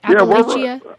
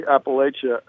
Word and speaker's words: Appalachia: I think the Mason-Dixon line, below the Mason-Dixon line, it's Appalachia, largely. People pronounce it that way. And I think above the Mason-Dixon line, it's Appalachia. We're very close to the Mason-Dixon line. It's an hour south of us, so we get both pronunciations here.